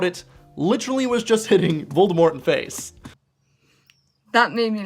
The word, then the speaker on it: Voldemort: it in the films they do not pronounce the T in his name they say Voldemort now I somehow reading